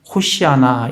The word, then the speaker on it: 호시아나: 이게 히브리식으로 발음을 하면 호시아나 이렇게 됩니다.